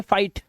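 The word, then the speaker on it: fight: से ही पढ़ेंगे और जीएसटी में जीएच साइलेंट होगा सिर्फ टी को पढ़ा जाएगा अब यहां पर देखो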